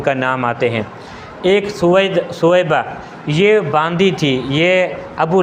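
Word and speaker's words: ثویبہ: بنتا ہے سویبہ کا۔ اور لکھنے میں کبھی کبھی غلطی ہو جاتی تھی کہ سویبہ کی جگہ پہ صوبیہ لکھ لیتے تھے، کیونکہ با کا تلفظ جو ہے وہ آسان لگتا ہے، قریب لگتا ہے، اس لیے بولنے کی وجہ سے صوبیہ کہہ دیتے ہیں، صوبیہ نہیں ہے، سویبہ۔ یہ سویبہ کون عورت ہیں؟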